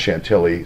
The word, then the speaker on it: Chantilly: all these different houses in Chantilly Shanti II I realize it's pronounced Chantilly sod travel over here